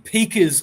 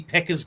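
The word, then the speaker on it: Pekar: I've noticed that other people are pronouncing it Harvey Peka's ghost, and I've always thought it was Harvey Pecker's ghost because I thought it was something about a penis.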